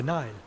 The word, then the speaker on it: Nile: Oh, it's spelled like that, but it sounds like Nile.